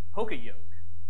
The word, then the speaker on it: poka yoke: I went to the talk you say it poka yoke and so I went in the whole talk